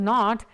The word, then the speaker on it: knot: was the difference in the temperature the KN pronounced as not is a unit of speed used in the